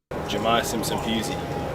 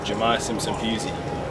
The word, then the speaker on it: Jahmai Simpson-Pusey: Jahmai Simpson-Pusey, Jahmai Simpson-Pusey, Jahmai Simpson-Pusey.